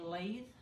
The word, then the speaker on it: lathe: on the I think someone told me that to pronounce it I should say lathe I don't know looks like a latte something like that but I guess the rest is silent so these I painted